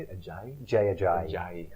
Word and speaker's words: Ajayi: Ajayi? Jay Ajayi. Ajayi.